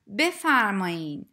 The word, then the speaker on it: بفرمایید: need to know that the written form is before me but you usually hear native speakers pronounce it as be farming you can use this